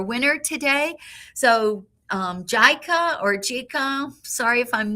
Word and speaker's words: Gika: Oh, okay Gika. It's It's pronounced Oh, she commented. So, thank you very much. It's pronounced Gika.